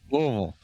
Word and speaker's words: Louisville: Louisvle.